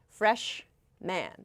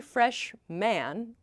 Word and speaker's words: freshman: So, a fresh We don't say fresh man. I broke it down like that just now, but freshman, freshman. So, this sounds like almost an e sound, men, like the plural freshmen.